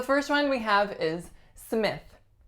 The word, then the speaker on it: Smith: is Smith Smith now I think there are a couple of things that might be tricky about this last name the first one is the lacks a vowel and the second one is the voiceless th Smith Smith next up